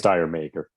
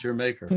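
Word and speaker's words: D'yer Mak'er: It's Dire Maker. Dire Maker. Jamaica. Yeah. Yeah, it's Jamaica. Jamaica.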